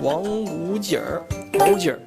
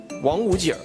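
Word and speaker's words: 王府井: Ohhh Wang - wu - jing? Did I say it right just now Yeah?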